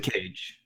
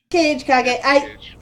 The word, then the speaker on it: Kage: I have a character spelled the exact same name, but I pronounce it Kage because I spelled it off of the Japanese. Yeah. And it was always pronounced Kage in Japanese, so I always call him Kage.